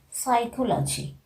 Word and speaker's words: psychology: let us be silent if any word is just beginning with the letter p in that case we are not pronouncing the sound of the examples of psychiatric psychology pseudoscience psychic these all